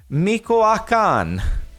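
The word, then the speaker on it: Michoacán: the the Meech standard for me I'm gonna pronounce this so wrong Michoacan so sorry it didn't stand for Mexico into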